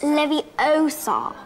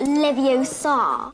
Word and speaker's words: Leviosa: to pronounce Wingardium Leviosa you're saying it wrong it's Levi Oar not Levi Oar this prompts Ron to